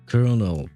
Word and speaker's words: colonel: the that rank because I don't like the way it is pronounced because it makes no sense like you are eating half the letters. I I never understood why English would pronounce that word like that because we have the exact same word in uh in French except we pronounce every letter. So we would pronounce it colonel.